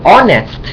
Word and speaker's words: honest: ออก เสียง เ่อ คือ เรา จะ ไม่ ออก เสียง H เรา ไม่ ออก เสียง H นะ ครับ ก็ คือ ว่า To Be honest honest นะ ครับ honest